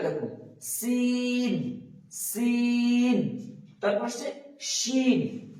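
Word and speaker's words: ش: তারপর আসছে শিন, এটাতে কিন্তু ওই সিটিটা নেই, শিন, শিন।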